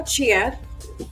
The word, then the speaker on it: Chiad: Couple IL named Bane and Shiad, I believe. How do you guys pronounce that? Shiad. Yeah, Chiad.